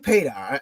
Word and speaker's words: Padar: who better than pedar I asked her in the beginning like how do you pronounce her your name and she said like radar I love that because